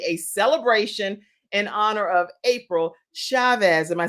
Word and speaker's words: April Chavez: And you guys, we are having the best time today because it is totally a celebration in honor of April Chavez.